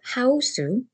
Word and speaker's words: 하우스: The word 하우스 is pronounced the same way in Korean as the English word house.